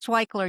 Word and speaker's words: Waichler: relevant, and meaningful conversation with our guest, Iris Waichler. It's Waichler.